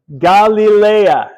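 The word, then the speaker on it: Γαλιλαία: Galilea. Okay. Galilea. Galilee, right? Now, why do we say Leia? It's alpha, iota, alpha. So the alpha, iota are creating their own diphthong, right? Which is the sound A.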